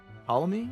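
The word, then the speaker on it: Ptolemy: your grandpa or something I think that's uh paly is how you pronounce it PT o l e m y follow me and then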